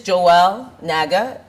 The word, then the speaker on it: Joel Naga: If this is Joelle Naga, am I saying the correct name? You're saying it right?